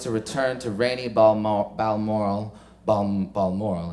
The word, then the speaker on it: Balmoral: return to rainy balm Balmoral bomb Balmoral as my mother said you have to pronounce it balmoral for endless tea and